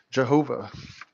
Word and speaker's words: Jehovah: letter yodeh vahe and english letters yhvh commonly pronounced jehovah and this is where